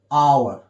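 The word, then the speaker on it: hour: भी आया है एच, लेकिन इसका साउंड क्या निकल रहा है, आवर, यहां पे हालांकि एच साइलेंट होता है, लेकिन हम पढ़ेंगे तो इसको हम आ पढ़ेंगे, आवर, तो आ इसमें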